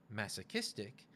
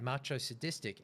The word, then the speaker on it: masochistic: Now, masochistic is spelt macho sadistic, but it is pronounced masochistic. I said the word, I knew what the word meant, but I said macho sadistic, and Beck has stopped